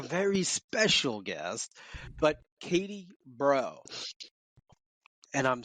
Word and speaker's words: Breault: I am Katie Breault, and I'm Chief Delivery Officer at YUPRO Placement. Not to be confused with Katie Breault. It depends on your dialect.